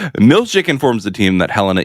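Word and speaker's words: Milchick: time on your hand if you're concerned about the the emphasis on the wrong salal as they say look look uh Helena and mor they had a relationship it's Milik informs the team that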